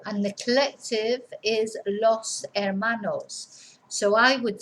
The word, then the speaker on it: hermanos: brother and la hermana remember we don't pronounce the H so el hermano that hermana and the collective los hermanos now then if we